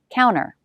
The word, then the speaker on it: counter: note with this word some americans drop the t after n so it sounds like counter the coffee pot's on the counter i usually pronounce it this way counter counter now we have